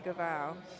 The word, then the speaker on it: Gaval: to say Nathan's surname that's a hard G apparently so I've been told yes a hard G Nathan gaval so my apologies for